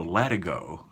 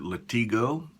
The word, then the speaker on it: latigo: the time that I've been sharpening knives so let it go stop Let It Go leather some people pronounce it Latigo but they do so incorrectly that's okay that's